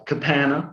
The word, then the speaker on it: Capanna: rock stars of history capanna terry and raynette jones uh kapana which rhymes with banana you will see in